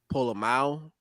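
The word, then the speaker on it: Pola-Mao: isaiah polo polo that's how you say it pull a mao he'll be a special teamer but yeah and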